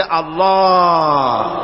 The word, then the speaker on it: আল্লাহ: না কেউ বলে না আল্লাহ আল্লাহ পাকের উচ্চারণটা হচ্ছে আল্লাহ পাকের নাম হচ্ছে আল্লাহ মুখটা একটু গোল হয়ে যাবে বলেন আল্লাহ আল্লাহ আল্লাহ আল্লাহ পৃথিবীতে বিভিন্ন